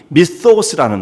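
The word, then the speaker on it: μισθός: 성경에는요, 이 상이라고 하는 말을 쓰는 그 헬라어 말이 미소스라는 말이에요. 미소스. TH 발음인데요.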